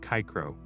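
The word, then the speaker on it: Cicero: Then there is C which was always hard like a K. The famous ortor CRO's name was pronounced kicro, a sharp crisp sound that echoes quite differently in your mind.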